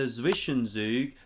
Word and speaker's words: Zwischenzug: So you chuck in the Zwischenzug, that's how you say it properly in German, an in-betweener move.